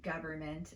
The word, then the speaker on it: government: The N in these words occurs in the stressed syllable. We typically don't reduce a sound when it occurs in the stressed syllable of a word.